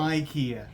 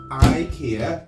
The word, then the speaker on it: IKEA: is pronounced slightly differently Swedish pronunciation which is something like Ikea Ikea 88 Mr Ikea